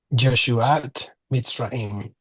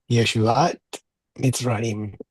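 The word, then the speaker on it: ישועת מצרים: Make sure not to pronounce the letter Yud like a J. I know that in some dialects, the J and Y are kind of interchangeable. We need to pronounce the Y like the letter yes.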